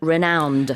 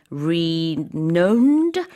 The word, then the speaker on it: renowned: like it might be renowned but it's not It's right It's an ow sound 네 그렇습니다 발음 헷갈릴